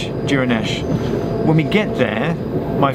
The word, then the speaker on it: Duirinish: In Gaelic, Duirinish. Yeah. Yeah, and in English? English, Duirinish. But the D sounds like a J, it's a soft D.